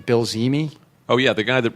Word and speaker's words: Zehme: I don't know how you pronounce that guy's name. Bill Zimi.